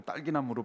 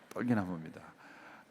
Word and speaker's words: 떨기나무: 어떤 분은 이 불타는 떨기나무 자꾸 딸기나무로 발음하시는 분이 있는데 떨기나무입니다.